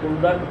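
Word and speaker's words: قُلْ: টাস কইরা বলতে হবে যেহেতু দুই নক্তা ওয়ালা কফের উচ্চারণ হলো জিহ্বা আর বোড়া তা জিহ্বাটা যাইয়া যেখানে তালুর গোলা গোড়া ওই বরাবর তালুর সাথে লাগিয়ে দুই নক্তা ওয়ালা কফ কুল বলেন কুল কুল কুল আউজুবি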